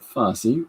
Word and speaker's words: Fosse: down in Broadway history Bob Fosse rhymes with Rod Rossi inside her Shield hey